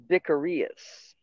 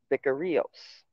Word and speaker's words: vicarius: In Greek text, the Latin title is spelled, however you spell that, but pronounced Vicarius. Vicarios.